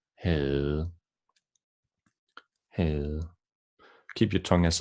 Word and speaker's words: havde: The last one is really different from its writing. We can see we don't pronounce the V and we don't pronounce the D, and we make it a long sound, as in havde.